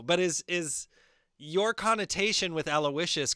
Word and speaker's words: Aloysius: Aloe, and then the Y is the I. And then Aloysius.